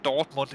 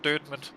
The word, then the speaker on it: Dortmund: the game afterwards and it is pronounced dirtman if anyone is in doubt it's not Dortmund it's dirman so yeah um is what